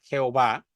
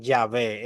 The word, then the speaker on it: Yahvé: yh antes de es antes se pronunciaba Jehová pero probablemente debería pronunciarse yahvé es el nombre que